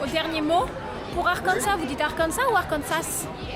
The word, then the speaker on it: Arkansas: Ah, les Français qui prononcent Arkansas alors que les Américains disent arcans et pourtant les Américains prononcent toutes les lettres à chaque fois.